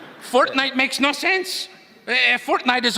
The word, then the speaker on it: Fortnite: That's a fork knife reference. Did you say fork knife? It's actually pronounced Fortnite. No, I don't think so.